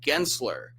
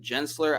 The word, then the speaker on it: Gensler: The company that Andrew worked for is called Gensler. I mispronounced it. I said Gensler.